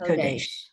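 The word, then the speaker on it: קֹדֶשׁ: It's ko. There's a dot up there and the two dots. Kodesh.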